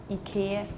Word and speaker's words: IKEA: America we say Ikea in Denmark we say Ika in Finland we say Ika in Norwegian we